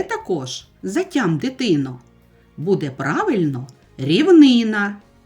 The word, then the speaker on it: рівнина: Ще також затям, дитино, буде правильно рівнина і боніш не ходи, щоб уникнути біди.